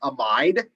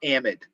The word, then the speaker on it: amide: call that functional group i refer to that as an amide there are other people with phds in chemistry that call this an amide so either pronunciation is perfectly acceptable i prefer amide personally all right but either